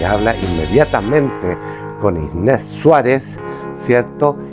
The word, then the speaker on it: Inés Suárez: Todos la llaman Inés de Suárez, pero el apellido es Inés Suárez, así se pronuncia.